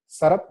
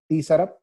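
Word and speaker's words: Tsarap: The name of the river is Sarap, not T Sarap. The T is silent.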